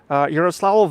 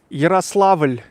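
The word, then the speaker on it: Ярославль: How to pronounce Yaroslavl in Russian? Yaroslavl, there's a so-called soft sign in the end. Yaroslavl, Yaroslavl, Yaroslavl.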